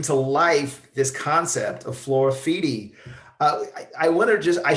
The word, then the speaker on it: Floraffiti: they just bring to life this concept of Flora feedy I want to just I should have said